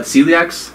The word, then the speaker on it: celiac: Have people who are, would that have, how do you say it again, celiac? That's C-E-L-I-A-C.